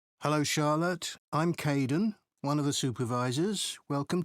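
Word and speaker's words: Kaeden: 6 hello Charlotte I'm Kaden one of the supervisors welcome to the team hi Aiden uh it's Kaden I'm so sorry oh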